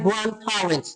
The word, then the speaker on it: grandparents: okay they are my grandparents ነው they are my grandparents. D is silent.